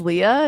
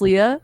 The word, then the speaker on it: Lea: Again, my name is Leah. It's spelled. Pretty simple, but a little complicated for some.